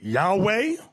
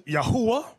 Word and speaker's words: Yahweh: of people you have some people pronounce it Yahweh another group pronounces yahuwah we were taught yahuwah